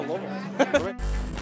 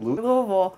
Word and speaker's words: Louisville: How would you come to Louisville?